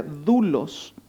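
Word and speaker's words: δοῦλος: De hecho, la palabra esclavo en el contexto es una palabrita griega que se nombra o se pronuncia doulos.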